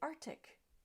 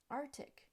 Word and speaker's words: Arctic: similar first up and many people will say Arctic Arctic but with that the C is missing at the end of the first syllable and it should be Arctic Arctic next word is very